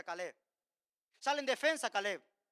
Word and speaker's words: Caleb: Ahí se pronuncia Calé.